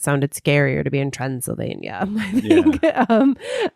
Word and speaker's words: Transylvania: scarier to be in Transylvania, I think. Yeah. And it rhymes with Pennsylvania.